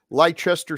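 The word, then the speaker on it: Leicester: you got to take the IC out and I I appreciate you correcting us but um and and you're not really being critical about it you're just saying hey guys this the way it's pronounced so we're not gonna so we don't want to look like a bunch of Rubes if we ever end up in England and we're asking people where's uh Lester square and yes well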